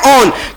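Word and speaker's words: -one: का सिक्स होता है ऑन स्पेलिंग होती है वैन की पढ़ते हैं लेकिन ऑन वैन नहीं पढ़ते पढ़ते क्या है ऑन कीटोन का सिक्स होता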